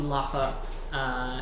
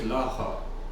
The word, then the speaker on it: Lockup: So Nilos leaves you, heads towards the Lucky Lockup Inn, where Lucky Lockup? it's an inn. You've been there at least once. But you pronounced it Laha. Lock up. Lockup.